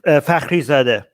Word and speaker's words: Fakhrizadeh: Sorry, how do you pronounce his last name again, Armin? Wait, hold on. Let me Fakhrizadeh.